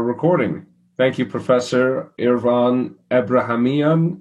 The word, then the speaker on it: Abrahamian: thank you professor irvan abrahamian did i pronounce that correctly uh uh uh abrahamian yes doctor raymond excuse me